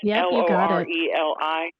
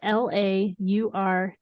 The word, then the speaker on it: Laureli: And that's Loreli. It's actually not. It's Laureli.